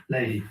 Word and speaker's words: Leahy: Do you pronounce it Leahy? Leahy.